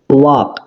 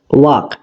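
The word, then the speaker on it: walk: দিই তাহলে বুঝতে পারবে ওয়াক ওয়াক এই শব্দটার এল এই লেটারটা উচ্চারিত হচ্ছে না তাহলে এই এল লেটার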